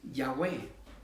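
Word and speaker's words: Yahweh: verdadero nombre y la torá qué quiere decir ya way mis amados hermanos pero si usted se traduce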